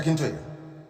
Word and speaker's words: Akintoye: I want to pronounce it correct. Professor Akintoye.